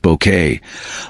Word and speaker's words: Bucket: Dame Patricia Routledge, the indomitable Hyacinth Bucket, pronounced Bouquet, was the heart and soul of Keeping Up Appearances.